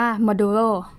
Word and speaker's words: modulo: เปอร์เซ็นต์ เพียง แต่ ว่า ใน โปรแกรม อ่าน ว่า มา ดู โร่ หรือ ว่า อ่าน ว่า